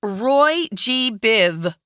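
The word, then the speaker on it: Roy G. Biv: know what you're doing just say Ro Roy G Biv it's very important not to say this r-o-y-g-b-i-v no right there are other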